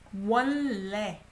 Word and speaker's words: 원래: You don't pronounce 원래.